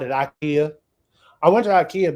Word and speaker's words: Ikea: Ikea I went to Ikea because it Rhymes in my name it's like Ike with an A but it's one of